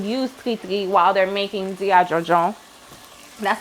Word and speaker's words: diri djon djon: of Haitians would use tri while they're making Diri Djon Djon. That's how you say it in Creole. I know I kind of said that kind of fast, right? Diri Djon Djon.